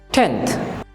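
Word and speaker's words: tenth: টি এর উচ্চারণ হবে ঠ এর মতো, কাজে আমরা সঠিকভাবে উচ্চারণ করব টেন্থ।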